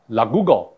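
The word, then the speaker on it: 落語: 日本的 lagugo 跟 manzai，请注意，这是日语的汉字，它应当用日语发音，请你应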